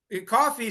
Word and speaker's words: coffee: at the end okay so cough versus coffee cough yes yeah this is what's so challenging about English this the spelling yes English is not always a phonetic okay so yeah cough uh coffee sounds like cough with the letter e at the end yes okay yes so